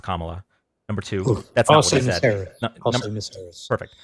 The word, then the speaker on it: Kamala: Number one, it's pronounced Kamala.